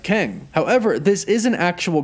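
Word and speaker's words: QENG: it says q-e-n-g and if you pronounce that it actually does sound kind of like keng however this is an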